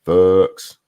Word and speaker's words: Fuchs: You guys are saying Fuchs. Okay, it looks like fucks to me. That's just how I would pronounce it. Just throwing that out there. That's Haley Fuchs. And thank you. Shroom is pronounced Fuchs.